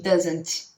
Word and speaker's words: doesn't: Você não precisa pronunciar tanto o T. Nesse caso aqui, do doesn't ou do don't, é a mesma coisa. Você quase não pronuncia o T. Então, ao invés de falar I don't, você fala I don't. Ou she doesn't, entendeu? Não precisa pronunciar tanto T. She doesn't. Não precisa. Você pode só falar she doesn't.